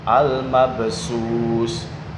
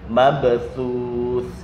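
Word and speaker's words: المبثوث: Kemudian al-mabthuth ya, al-mabthuth fa dibaca sin atau shin. Al-mabsus, al-mabshush dan sebagainya. Ini yang sering terjadi. Makanya kita harus memperhatikan bahwa ini adalah huruf tha. Ya, kal farashil mabthuth, mabthuth, tha, thithu bath. Ini harus diperhatikan.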